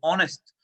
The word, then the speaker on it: honest: जब हम यहाँ देखते हैं तो ये जो वर्ड ऑनेस्ट है ये एच से स्टार्ट है, लेकिन वर्ड एच से स्टार्ट है, जो इसका साउंड है जब इसको प्रोनाउंस करते हैं तो ये ओ का प्रयोग ऑनेस्ट, इसलिए ये ओ की जो है बच्चों साउंड दे रहा है, तो हम इससे